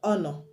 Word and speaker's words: honor: So you have some words that begin with H that the H is silent, like I've mentioned air, we have R, we have honor, honest, etc.